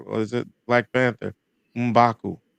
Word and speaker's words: M'Baku: M'Baku. Umbaku. Ombaku. That's double Yeah, M. Mm. M'Baku. Just to say that M'Baku. The first Umba. syllable in that is different.